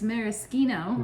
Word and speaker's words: maraschino: then we take our maraschino cherries and we'll put those on now yeah we learned the pronunciation is maraschino i've been saying it wrong my whole life there you go oh